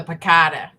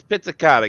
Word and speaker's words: Pizzicato: you come up with the piccata it's Pizzicato get it right you goon well